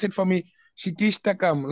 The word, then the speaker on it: Shikshashtakam: Like, you see, like, when you chant the, I forgot it, Prabhu, can you pronounce it for me? Shikishtakam. Like, what? Shikashtakam. Oh, yes. Shikshashtakam.